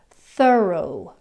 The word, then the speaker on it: thorough: The next sound is in more like an O sound in the words like thorough, although.